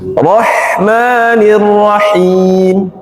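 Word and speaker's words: الرَّحْمَٰنِ الرَّحِيمِ: Rahmanirrahim. Kalau bacanya roh ke dalam harus dilepas keluar. Rahmanirrahim. Bukan roh. Ini.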